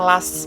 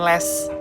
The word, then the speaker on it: last: Last itu tuh dibacanya last, bukan les.